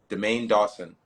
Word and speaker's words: Daimain Dawson: I want to make sure that I'm able to pronounce your name correctly. It's Dean Dawson. Demain Dawson.